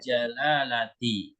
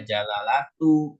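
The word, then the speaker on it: الجلالةِ: Jadi nggak boleh dibaca jalalatu, jalalata, nggak boleh.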